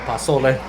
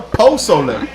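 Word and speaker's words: pozole: right, you just brought it up, and I mispronounce it because I'm not Mexican enough, but I call it pasole, That's so wrong. right? Pasole? Yeah. I gotta Ain't pull- no A in that Just shit. switch Posole, one right?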